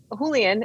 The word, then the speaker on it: Julian: And then Julian is actually how you pronounce it.